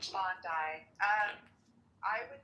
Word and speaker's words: Bondi: And they would say, "Go to Bondi Beach or Bondi Beach, however you pronounce it, Bondi."